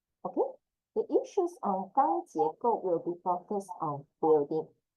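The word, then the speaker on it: 钢结构: 钢, yes, correct. Just now we learned about 钢筋. This is 钢, again, the plus ang, first tone. 钢, 钢, and 结构 will be like the jacket of, but J plus A. 结, second tone. G plus A, yes. To check it out, J plus A. 结, go will be please go ahead. Fourth one, go.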